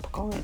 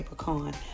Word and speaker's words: pecan: Oh, and if some of you guys are wondering, what is she talking about, pecan tree? Well, here in the South, we say pecan, but it's actually pronounced pecan, but we say pecan, so that's what I'm talking about, a pecan tree.